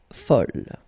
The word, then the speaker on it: folle: And here is the second masculine form, and it's folle. And the feminine form is folle. Okay, same thing here, same pronunciation, but then you write them differently.